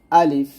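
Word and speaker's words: ألف: লাম ফা জের লিফ আলিফ এখানে কিন্তু টান টান নাই আলিফ আলিফ এরকম ভাবে বলতে হবে আলিফ আলিফ আবার বলেন আলিফ আবার বলেন আলিফ আলিফ এরকম ভাবে পড়তে হবে তার মানে আলিফ উচ্চারণ করার সময় কি করা যাবে না টান দেওয়া যাবে না তারপর হচ্ছে বা বা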